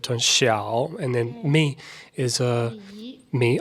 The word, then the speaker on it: Xiao: So small in Chinese is xiao, and that's the first part of Xiaomi, the word xiao. So you got the falling, rising tone, the third tone xiao, and then mi is mi.